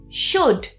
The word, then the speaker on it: should: The next rule is with certain modal verbs that have the O L spelling. For example, should. Should should. That would be the strong form. The weak form would be should.